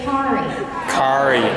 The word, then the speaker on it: Kari: can everybody say Ki Cari can everybody say Ki Ferrari Ki Ferrari spread the word tell your friends it's Cari car like Ferrari so yes Miss mispronounced